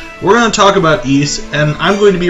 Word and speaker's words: Ys: Eese. Kind of like geese, but without the G.